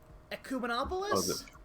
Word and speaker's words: ecumenopolis: a city planet uh i forget how to pronounce the actual term ecumenopolis yes echo monopolist e come not opolis it's